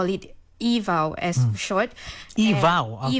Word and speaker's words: EVAW: EVAW. Okay, EVAW, so that's how the acronym is pronounced.